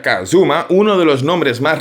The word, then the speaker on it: kZm: Por ejemplo, habló con KZM, que en realidad se pronuncia Kazuma, uno de los nombres más relevantes en la Gentown Crew, y sacaron juntos el Crime en 2017.